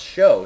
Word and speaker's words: SjoW: cats versus dignitas and it's pronounced show he's actually in the